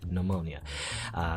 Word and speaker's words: pneumonia: move there huh pneumonia pneumonia the P is silent pneumonia phantom pregnancy elvis syndrome